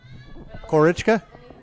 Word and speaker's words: Korochka: and we are at what is the proper pronunciation of your bar corage chika okay cork or HK alright so we're out